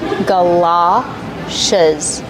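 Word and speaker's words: galoshes: G like up and cup. Gala. It's an open sound like stop and hot. Galashes. These are galashes.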